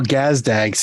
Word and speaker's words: Gazdag: um I mean Daniel gazdags is just fun to say that's his name nope nope it doesn't have a pronunciation guide so he's just gazdag So Daniel gazdag sounds